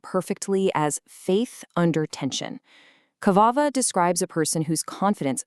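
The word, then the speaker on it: קַוֵּה: The root Hebrew word is commonly transliterated as qavah, but the specific form used in Psalm 27 is Qavveh, pronounced qavah. Hear that emphasis on the second syllable?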